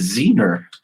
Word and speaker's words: Zener: the readers wanting more i've been saying it wrong this whole time it's zener yeah yeah uh the name